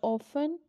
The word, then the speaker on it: often: In word, the often, the T is silent. The letter T is silent in this word.